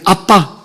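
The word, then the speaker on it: אבא: 근데 우리 그리스도교만은 하나님을 아버지, 아바라는 말이 아람을 하겠잖아요. 아람인데 우리하고 똑같아요. 발음이 아빠.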